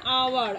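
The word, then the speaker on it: hour: সেরকমভাবে দেখো দে আর waiting for অ্যান আওয়ার, আবার দেখো এখানে এই যে আওয়ার, এইচ আমাদের কনসোনেন্ট, কিন্তু এর উচ্চারণের জন্য এখানে অ্যান হয়েছে।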